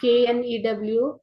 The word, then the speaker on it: knew: See here, K is silent. New, new. So which new is to be used? They are buying new bats and balls. Which new? NEW, new. So why not KNEW?